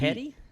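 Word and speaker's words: Peete: It sounds like Pete. Petty? Pete? I'd say that's I would Pete. say it's Pete.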